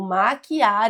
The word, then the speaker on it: maquiar: Muitas vezes a palavra é com e e a gente pronuncia com i, como se fosse com i, e aí gera essa confusão. Mas não, o verbo maquiar e as flexões do verbo maquiar são com a letra I.